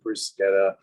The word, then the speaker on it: bruschetta: Sadly, it's always mispronounced. It's called bruschetta. People say bruschetta. It's actually bruschetta.